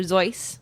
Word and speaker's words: Seuss: into this actually and while it is originally Dr zoy because that's how he would have pronounced it um once it he started getting bigger in America he apparently like sort of let took on the run with goose Zeus to run with goose because it was easier for